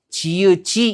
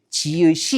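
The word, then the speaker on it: 지읒이: 그래서 지의지라고 발음해야 될 거 같지만이 규칙에 따르면 어떻게 발음해야 돼요? 지의시 이렇게 발음해야 된다는 거죠.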